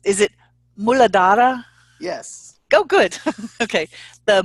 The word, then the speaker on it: Muladhara: Okay, maybe you can help me with these pronunciations. Is it Muladhara?